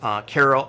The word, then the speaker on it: Karl: His name is Karl Oleszak. It's spelled like Carol, but it's a Polish name. It's pronounced Karl.